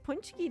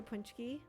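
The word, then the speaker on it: pączki: Oh, chat, tomorrow uh is Punchki Day.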